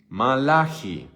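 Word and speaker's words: מלאכי: Entonces, te pregunto, ¿cómo se dice Malaquías en hebreo? Malaji.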